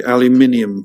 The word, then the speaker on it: aluminium: say the same thing only the British pronunciation we would say aluminium foil do you actually use